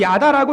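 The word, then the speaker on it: ידע: 히브리어로 야다라고 읽는 단어인데 일반적으로 이 야다라는 단어는 부부관계 사이에서 전신적으로 육체적으로 친밀하고 신뢰라는 뜻을 갖고 있습니다.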